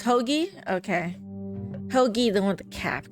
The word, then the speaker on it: Hoagie: Hoy or Hoji? Oh, Hawaii. How do you What? Hogy. His name's Hogy.